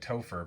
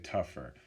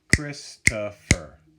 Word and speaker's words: Christopher: It looks like Topher, but most people say tougher. Christopher.